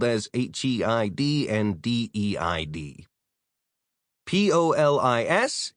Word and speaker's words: polis: P-O-L-I-S is the police, but it's pronounced like polis rather than police.